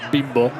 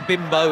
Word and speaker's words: Bimbo: And you have to be careful how you say it. Exactly, that's why I said Bimbo. Yeah, no, you don't. The Spanish, you say Bimbo in the English, where it has a very different meaning to Bimbo, which is the brand.